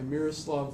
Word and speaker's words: Miroslav: But Flourishing by Miroslav Volf.